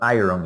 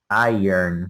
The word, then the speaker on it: iron: Then the pronunciation of this word is not iron. It is iron. The R goes at the end.